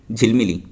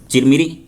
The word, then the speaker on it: चिरमिरी: इसके बाद आएगा एक झिलमिली झिलमिली तो उसमें जा क्या था चिरमिरी तो ये लोग बोल रहे हैं कि चिरमिरी वाले झगड़ा हो रहे तो चिरमिरी की जगह इनको उच्चारण करने नहीं आया और बोल दिया झिलमिली वाले सोने के झगड़ा हो रहे हैं।